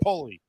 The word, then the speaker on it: Polly: pulleys everyone always calls it Pollies I'm like dude it's Polly because my grandpa was tall like a pole and skinny like a